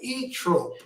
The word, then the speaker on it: Zoetrope: And then there's another band from Chicago called E Trope, but it's spelled with a Z.